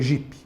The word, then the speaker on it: Jeep: é 4 por4 é jip né Tudo bem que a gente escreve jipe não J eep Mas isso é só uma pronúncia brasileira que foi a brasileirada né A brasileirada então Os